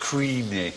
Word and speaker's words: Cruithne: Cruithne is the spelling, exactly right, but supposedly pronounced Creenie or something like that.